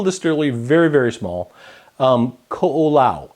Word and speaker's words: Ko'olau: very very small um coola is the way you pronounce that um started by a